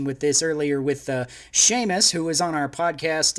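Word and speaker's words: Seumas: this earlier with uh sheamus who was on our podcast uh a couple of weeks ago he's a cool guy check out at the sheamus which is spelled funny a s s-e-u-m-a-s um on twitter check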